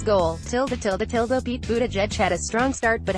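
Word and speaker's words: Buttigieg: son of two Notre Dame professors Buddha judge pronounced Buddha judge is a Rhodes Scholar and Afghanistan war veteran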